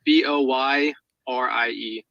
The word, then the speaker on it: Boyer: It's Boyer. It's French. It's kind of weird. Mm-hmm. Boyer? Lost my mind. Yes, sir. How do I spell that? French Boyer. It is Boyrie.